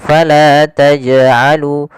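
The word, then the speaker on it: فلا تجعلوا: pantulan huruf Jin sendiri jangan sampai tambahan ada alifnya maaf tambahan Hamzah yang disukunkan misalkan Fala tajalu tajalu ini tambahan Hamzah harusnya tidak ditambah dengan Hamzah hanya eh memantul saja Fala tajalu Taj Taj ya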